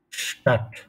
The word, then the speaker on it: Stadt: If S is followed by a consonant, then it is pronounced like Stat.